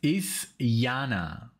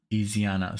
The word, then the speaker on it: Isyana: So it's ISYANA. I don't know what I said, but I'm sure I butchered it. ISYANA SARASVATI or Sarasvati. ISYANA.